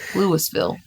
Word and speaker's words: Louisville: But it's pronounced Lewisville.